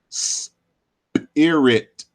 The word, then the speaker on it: spirit: the word spirit, but most folks don't pronounce the word spirit as spirit with the hard P or P. We do it as an aspirated P with an H type sound. So we say spirit.